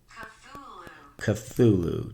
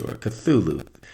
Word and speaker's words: Cthulhu: Let me see how to pronounce this guy again. Cthulhu. Just had to make sure. Cthulhu.